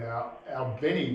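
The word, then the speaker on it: Albany: um he had a deal signed and he had a he had a proposal to go and play in Albini, Georgia, as I've heard it's pronounced.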